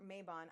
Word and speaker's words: Mabon: Mabon, or Mabon as many Americans pronounce it, is one of the 8 sabbats on the Wheel of the Year.